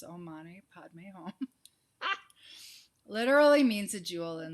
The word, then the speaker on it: Om Mani Padme Hum: And so this meditation, the traditional Tibetan mantra, Om Mani Padme Hum, pronounce Om Mani Padme Hum, literally means a jewel in the lotus.